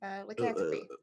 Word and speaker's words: lycanthropy: This looks like a cure for lycanthropy. Lycanthropy. That's the word you're trying to say. Lycanthropy. Lycanthropy. Yeah. You're adding too many syllables.